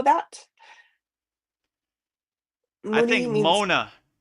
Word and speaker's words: mauna: I Muni think means Mona. Mona. Mean it's spelled Mauna.